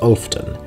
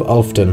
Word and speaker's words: Olfden: A settlement I can tell you about now is Olfden, which is spelled like Wolfden, but without the first letter, ostensibly some old joke about killing werewolves.